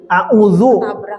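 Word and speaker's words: أعوذ: Ya kembali ke yang tadi, a'udzu, bacanya zal ya, a'udzu dari aza, ya'udzu, yazan.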